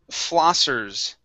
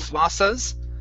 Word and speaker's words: flossers: Okay, instead of flossas, okay, give me an sound at the end. Flossers. Flossers. Okay, you're saying flossas. Instead of sa, it's sir. Flossers. Flossers. Good. One more time. Curve the tongue up.